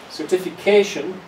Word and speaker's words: certification: Certification and here it's a long word. So we also have something what's called a secondary stress. So the main stress is certification.